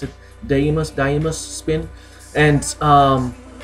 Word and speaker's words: Deimos: nameless spin the things how that's how you pronounce it day must die must spin and um this move is